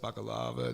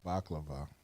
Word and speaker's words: baklava: a variety of mediterranean food including the best baccalava that i've ever had did i pronounce it right baklava i just cannot bak lava lava lava right